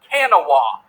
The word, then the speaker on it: Kanawha: west virginia and kanawha is actually spa is spelled with like it looks kanawa not know as it looks uh on the